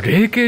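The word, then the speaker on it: 鈴渓: あ、霊系って読むんだ、俺鈴系って思ってた。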